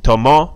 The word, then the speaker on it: tomó: Listen to the pronunciation. Trató, tomó, agitó. The accent's on the last word, that's why there's a stress there on the last letter, excuse me.